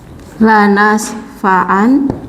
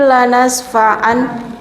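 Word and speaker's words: لنسفعا: penulisannya tetap dengan nun lanas fa'an, nanti kalau kita wakafkan kita khawatir bacanya salah. Kalla la illam yantahi lanasfa'an gitu. Sedangkan secara tajwid bacanya untuk nun khafifah berubah jadi mad iwad lanasfa'a.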